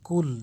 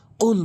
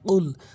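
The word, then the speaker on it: قُل: আমরা এখানে আমরা ভুল উচ্চারণ করে বলি। কুল যার অর্থ দ্বারা হে রাসূল আপনি খান ভুল অর্থ এটি বলা যাবে না। নামাজ ভেঙ্গে যাবে। কুল বলতে হবে।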